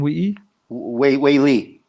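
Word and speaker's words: Weili: We got Rose versus, how do you pronounce her name? Wei Li.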